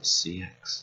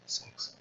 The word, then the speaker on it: CEX: It's not pronounced CX, CEX. It's pronounced sex.